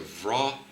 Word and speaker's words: Wrocław: I don't know how to pronounce that because the L has a through it, and that's usually pronounced as a W sound. So it's a Wrocław Panthers.